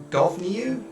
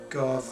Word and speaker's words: Gobhniu: So this is obviously an Irish god because it's the G-O-B-H sound. I don't know how to pronounce that. I think it's like a V sound or an F sound, but it's been a